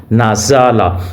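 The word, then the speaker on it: نزل: نازا، لام زبر لا، نازالہ۔ تو اس کو آپ نے کھینچنا نہیں ہے، لمبا نہیں کرنا، ایسے نہیں کرنا، نون زبر نا، زا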